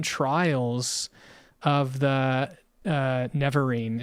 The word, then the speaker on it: Nerevarine: 7 trials of the Nerevarine. Is that how you pronounce it? I think I... The Nerevarine. Nerevarine, yeah.